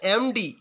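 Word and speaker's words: MD: তারপরে দেখো অ্যান এমডি, এম এর উচ্চারণটা দেখো প্রথমে এ ভাওয়েলের মতো হয়ে আসছে।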